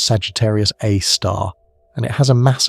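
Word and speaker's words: Sagittarius A*: It's called Sagittarius A, pronounced Sagittarius A star, and it has a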